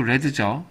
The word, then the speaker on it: read: 자, 그래서 I read 얘는 발음이 read가 아니고 read죠. 예, 과거형 read입니다.